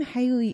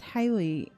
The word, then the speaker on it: Haley: um her last name Haley it's said Haley it's it's pronounced Haley but it looks like heli to me but I have clarified